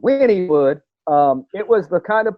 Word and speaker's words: Wynnewood: Wynnewood. Like win. Like I'm winning. Win. Like Winnie the Pooh.